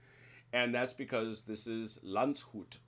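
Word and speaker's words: Landshut: that's because this is lanzhut or lunchhut as i've heard it pronounced um the the very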